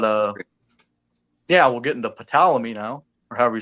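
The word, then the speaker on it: Ptolemy: But uh yeah, we'll get into palamy now or however you say that. I think that's how you say to ple sorry you say the p or is it silent? It's like p is silent.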